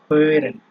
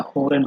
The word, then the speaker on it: hören: hören, ঠিক আছে, এটা হোরেন হবে না, মানে ওই যে আপনার উচ্চারণ তো বলে দিচ্ছি।